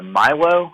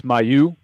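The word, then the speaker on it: Mailloux: I think it's Milo, is it? Is that how you say his name? I think it's Mayu. Mayu?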